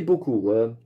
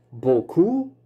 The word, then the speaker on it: beaucoup: Verschillende klanken in het Frans, waaronder de EAU geluid, spreken we uit als O. En hier in het woord beaucoup is de laatste letter P wordt niet uitgesproken.